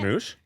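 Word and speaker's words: Smosh: It's S M O S H. And And it's not that hard. No, I mean it's like it's like you smoosh two things together.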